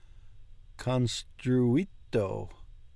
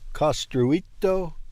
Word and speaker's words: costruito: Quando è stato construito. There's no N in that. Quando è stato costruito questo edificio?